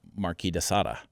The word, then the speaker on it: Marquis de Sade: I've heard it Marquis de Sade, which is most people say that, and then there's Marquis de Sada. Some people say it that way.